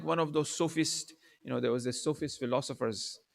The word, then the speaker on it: sophist: They were known as the sophists, not the Sufis. People tend to kind of mistake the pronunciation. They were known as a sophist.